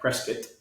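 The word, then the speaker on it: Prescott: Prescuit.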